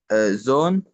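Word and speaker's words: Sohn: آه حرف الها هيبقى سايلنت هنا معايا. زون.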